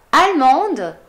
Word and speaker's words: Allemande: Comunque, Allemand, Allemande, Allemand, Allemande. Aggiungo la E, quindi la D la devo pronunciare, Allemand, Allemande.